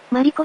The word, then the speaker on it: 丸子: はなく、マリコ宿なんですか？マルコって書いて、マリコって読むらしい。